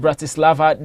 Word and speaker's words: Bratislava: to pronounce but if slovan and Bratislava that is the correct pronunciation will take on FC